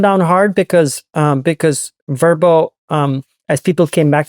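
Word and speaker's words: Vrbo: so they renamed everything verbo vbo as a verbal that's kind of how they pronounce it it did really well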